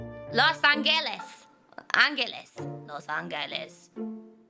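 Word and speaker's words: Los Ángeles: angeles is it no it's pronounced with an h sound los angeles the angels wow city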